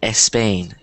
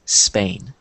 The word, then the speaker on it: Spain: when they say it it sounds like espain but you don't want to do that because you don't that's not how you're supposed to pronounce it so I think all of you pronounced it correctly so the correct pronunciation is Spain um I'm trying to